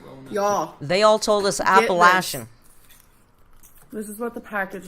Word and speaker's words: Appalachian: drove all through the appalachian apparently that's the right pronunciation i still think appellation sounds better but we drove through the